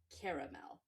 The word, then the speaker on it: Caramel: It's Caramel. The first thing I thought when you mentioned perfume was what a perfect name for a perfume. I mean, I don't know if your mom intentionally named you Caramel or what this backstory is on that, but